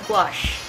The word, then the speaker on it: gouache: Siri, what's the pronunciation for gouache?